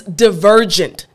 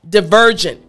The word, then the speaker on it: divergent: is you're going to put your front teeth on your bottom lip and the key is you want to vibrate so you're going to vibrate good again excellent so after me divergent good last time divergent